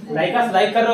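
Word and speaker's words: Lycos: किसी को लाइक कर रहे हो तो खोज रहे हो लाइकस लाइक कर रहे हो, भले उसकी स्पेलिंग जो भी हो लाइकस इसको प्रोनाउंस करते हैं, लाइकस सर्च इंजन है, लाइक कर रहे हो तो खोज रहे हो, ठीक है।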